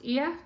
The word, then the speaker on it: Oia: It took us back to port, where a coach then took us to the famous Ia. It's spelled O-I-A, but it's pronounced Ia.